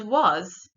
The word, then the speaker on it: was: irregular in the word was the a is irregular as we pronounce it o and the E on